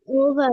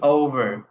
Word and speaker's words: over: করে যে game is, over, গেট সেট go, game is ওভার, Get set get set, go. go, Game is is over, over. Let go. Over. Game is over. ওভার আপনি Over. চাইলে আরটা silent রাখতে পারেন, ওভার।